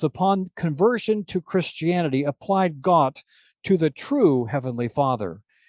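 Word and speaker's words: Gott: that's right it's Germany now in Germany the dialect changes and God is pronounced got but this can't be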